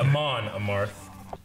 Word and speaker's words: Amon Amarth: I know Amon Amarth, right? Is that how you say it? Amon Amarth. Yeah, Amon Amarth.